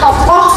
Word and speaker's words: tokoh: penjual betul sekali karena tokoh itu bacanya tokoh ya karena ada H di belakang tokoh adalah pelaku atau